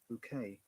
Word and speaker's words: bouquet: Remember, in bouquet, the T is silent Bouquet. Ah, okay, bouquet. because it's a French word.